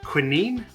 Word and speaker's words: quinine: But I asked Google, and at least the North American pronunciation is in fact quinine, and that's how I said it throughout the video. How do you say it? Quinine?